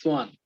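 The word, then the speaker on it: Schwann: It's spelled swan. Sorry, it's pronounced swan. It's spelled weirdly.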